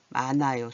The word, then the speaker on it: 많아요: 괜찮 차에다가 히읗이 동그라미 만나면 소리가 나요, 안 나요? 안 나요. 얘가 소리가 안 나요. 괜찮아요. 이렇게 안 하고 괜찮아요. 만하요가 아니라 많아요.